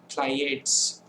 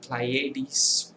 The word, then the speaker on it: Pleiades: So the next is Pleiades or Pleiades, whichever way you choose to pronounce it.